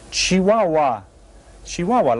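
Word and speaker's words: Chihuahua: here and that's pronounced chiah shihua like the dog okay well this is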